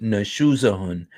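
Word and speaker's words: نشوزهن: The crime here is nashuzahun, and that you pronounce it nashuzahun, which means some kind of misbehavior or disloyalty or something.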